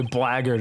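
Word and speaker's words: Blackquill: I always find it weird that that's the way blackard is pronounced.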